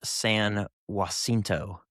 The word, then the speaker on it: San Jacinto: I'm pretty sure that's pronounced San Jacinto. Jacinto, huh? Because it's like the San Joaquin Valley.